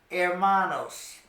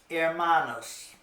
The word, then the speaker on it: hermanos: you will like is Hermanos Hermanos remember that in Spanish and H at the beginning of a word is silent you don't pronounce the h so you pronounce Brothers Hermanos Hermanos okay that means Brothers